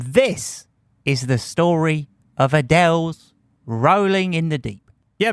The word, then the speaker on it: Adele: And before you think I said her name wrong, that is how Adele pronounces Adele.